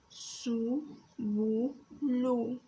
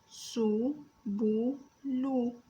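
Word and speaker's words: سُبُلُ: The first one is seen with a dhamma over it, pronounced as su. The second letter is B with a dhamma over it, is pronounced as bu. The third letter is lam, pronounced as lu.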